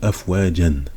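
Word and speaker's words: أفواجا: Dinillahi afwaja ou afwajan. Bon, ça s'écrit afwajan, mais on le lit afwaja parce qu'on s'arrête.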